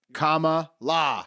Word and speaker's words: Kamala: trick your own mind comma la yes that's how you say it it's almost like common law you guys ready you